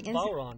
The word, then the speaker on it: bodhrán: Now, could you, I think the bodhrán, is that how you pronounce it? Is a very bodhrán, yeah.